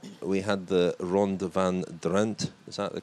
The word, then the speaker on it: Drenthe: And then a week later, we had the Ronde van Drenthe. Is that the correct pronunciation? I think it's like with a soft E in the end, Drenthe. Drenthe.